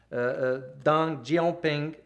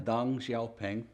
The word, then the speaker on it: Deng Xiaoping: Right after which Deng Xiaoping, I hope I pronounce it correctly. Deng Xiaoping.